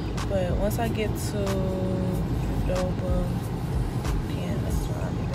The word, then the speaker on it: Qdoba: Did you know a lot of people say it's not pronounced Qdoba, it's Qdoba.